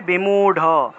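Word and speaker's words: बिमूढ़: সংস্কৃত ভাষায় রটাকে ড এর মত করে উচ্চারণ করা হয়। অর্থাৎ দৃঢ় থাকলে উচ্চারণটা হবে দৃঢ়। দৃঢ়। দৃঢ় থাকলে দৃঢ় উচ্চারণ হবে। ঠিক আছে? দৃঢ় থাকলে দৃঢ় উচ্চারণ। তারপরে বিমূড়। বিমূড় থাকলে বিমূঢ। বিমূঢ ঢার।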